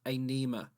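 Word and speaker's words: Ænima: is a nema and it's spelt very weirdly because the first letter is like an a and an e combined together and then n-i-m-a anema like dipping a pen and some ink there no no it's just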